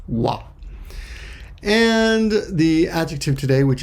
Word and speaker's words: は: hiragana h a but when it's the topic marker it's pronounced wah and the adjective today